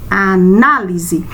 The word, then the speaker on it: análise: Nós já sabemos que o A não é. E o na? Análise. Então, nós sabemos que vamos acentuar o na, ou seja, o A após a letra N, a sílaba na, porque é ela que está trazendo esse som forte para a palavra.